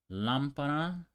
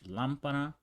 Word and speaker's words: lámpara: Lámpara, the same here, ends with an A. So you would think the stress is on pa, but not here. We have that accent right there. That's where the stress is.